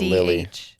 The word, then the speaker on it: Lilidh: They just pronounce it Lily. Oh, okay. Okay, Lily. Yeah, they just pronounce it Lily. I think it's supposed to be kind of like Lilith, but Lily.